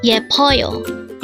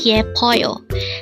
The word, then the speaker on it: 예뻐요: YEPPEOYO. Again, it's YEPPEOYO. This is pronounced as a three-syllable word.